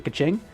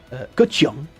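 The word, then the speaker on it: Kachina: to have access to Kaching. Kachung, actually, because I'm trying to do the pronunciations proper.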